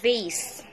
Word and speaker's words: vase: Sa vase na ito, sa word na vase na ito, hindi na pronounce sa letter E. V-A-S lang.